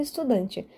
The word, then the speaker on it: estudante: O mesmo vale para estudante. Estudante, ou seja, de trás para frente, última sílaba T, penúltima sílaba dan. E é o dan que eu enfatizo, estudante, paroxítono.